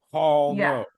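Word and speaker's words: Haul No!: the Grand Canyon well let me spell that was it's h a u l n o Hall no with a big exclamation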